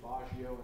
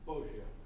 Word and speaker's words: Boggio: You pronounced the victim's name two separate ways, Baggio and Boggio. Is there a member of the family here that can tell me what the correct pronunciation is? How do I pronounce it correctly? Boggio.